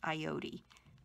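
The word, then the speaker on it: Ayotte: And I believe that might be pronounced Ayote.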